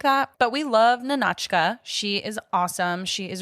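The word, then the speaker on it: Nahnatchka: of this film okay nka nka is that okay yeah you said it right that's perfect no you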